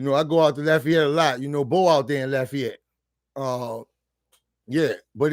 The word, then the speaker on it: Lafayette: It's Lafayette.